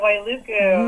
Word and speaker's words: Wailuku: Yeah, Wailuku.